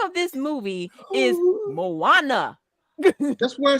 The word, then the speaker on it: Moana: y'all hear you Saida you put a w in the girl name and a D did that never did that never did that it's Moana not true you added so many words you added syllables to the girl the crazy part is